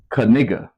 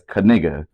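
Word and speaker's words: Knigga: um meme what's his last name now he pronounced his last name as kigga oh I seen that he pronounces his last name as kiga and it's spelled k n i g g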